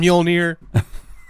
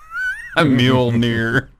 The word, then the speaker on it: Mjolnir: Come on, Mjolnir. Mjolnir. Where did the N come from and where did the L come from? Mjolnir.